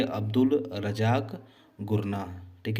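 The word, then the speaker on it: Gurnah: गुरनाह को हम, ठीक है, घूरना भी कर सकते हैं, ठीक है। यानी घूरना शब्द इसी का प्रोनाउंसिएशन शो कर रहा है, घूरना यानी गुरना, ठीक है।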